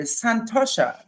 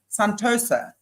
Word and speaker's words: santosha: cleanliness right number two santosha santosa santosha okay depend depends how you want to actually pronounce that and that is